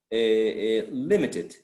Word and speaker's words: limited: Then if we add the suffix for ed, limited, still limited, is still the stress goes or falls on lib, right?